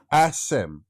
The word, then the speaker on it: Asim: Ashim. Ashim. Ashim. It's literally, look at, have you written it down? Yes, I have, but I It don't literally, it's pronounced exactly as it sounds. Okay. As it looks.